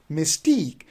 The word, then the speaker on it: mystique: word that is mystique so you see that we have again two syllable one is miss and another one is teak mystique so we don't say mystique if we do say misty then you are putting the stress on the first syllable which is wrong so you can't say mystique you will say mystique similarly we have another